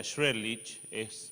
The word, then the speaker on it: Shredlich: Y bueno, como dice acá, la tecnología esta es medio difícil de pronunciar, pero en realidad se pronuncia Shredlich.